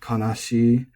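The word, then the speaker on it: 悲しい: to say especially, but there are many common e-adjectives that are pronounced both, that are acceptably pronounced both flat and accented, even like NHK proper announcer voice.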